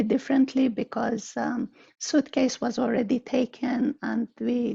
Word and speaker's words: SUITCEYES: We actually call it Suitcase, even though we spell it slightly differently because Suitcase was already taken and we didn't have time to explore our options.